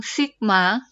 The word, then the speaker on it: sigma: mencarinya ini ada lambang Sigma artinya jumlah f * x f itu frekuensi dikali X itu nilainya dibagi dengan jumlah frekuensi supaya lebih jelas jadi lambang yang ini dibacanya stigma ya dibacanya Sigma Hai artinya jumlah please